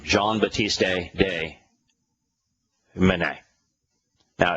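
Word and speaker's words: Meusnier: the name John batist de man now it's it's a French name so it's not written as it is pronounced the E is silent the S is silent and the r is silent it's m e u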